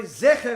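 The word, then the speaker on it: זֵכֶר: Although it's spelled exactly the same, the vowels, the nikud, are slightly different. Whereas Zecher, which means the memory of Amalek, has the 2 dots. Zachar has the little plus, upside down plus sign.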